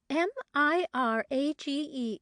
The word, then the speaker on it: mirage: give it up he added marriage and marriage m-i-r-a-g-e is pronounced mirage said valencia shortly picking up her